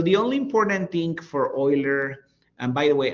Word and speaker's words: Euler: So the only important thing for Oiler and by the way I'm pronouncing it kind of like with oil. Let me I should probably write it down. Oiler because this is a German name.